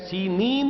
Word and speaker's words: سینین: صحرائے سینا، یہ ہے، سینین اس کا تلفظ ہے، یہ جمع کا صیغہ